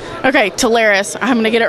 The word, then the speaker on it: Telarus: probably over a dozen I'd say we've heard Tarsus tarus Taris internally some of our employees still don't pronounce the way we choose to pronounce it but that pronunciation is as you stated Taris okay Taris I'm going to get it right um and